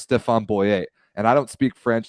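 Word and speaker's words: Stéphen Boyer: it anymore i i can't listen to people pronounce it stephen boyer when he's a french man who it is clearly pronounced stefan boyet and i don't speak french that's that language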